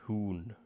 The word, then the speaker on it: Huns: It's pronounced Hoon.